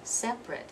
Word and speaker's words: separate: if something is separate that's the adjective form separate it's only two syllables you have to be